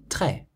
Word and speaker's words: très: So you pronounce délicieux and très, like this. Délicieux, très. So it's délicieux, but très.